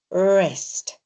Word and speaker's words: wrist: put in wrist because it starts with a w, but we don't say were, we just say wrist.